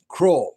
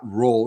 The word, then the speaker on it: Krull: The uh Krull. That's not it. It's not Roll. It's Krull, dammit.